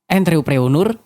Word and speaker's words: entrepreneur: Entrepreneur kurang lebih dibaca N, seperti membaca N dalam kata encok. Treu, pengucapan huruf E seperti pengucapan huruf E dalam kata teman. Preu, pengucapan huruf E seperti pengucapan huruf E dalam kata pesawat. Dan nur dibaca seperti kata nurani.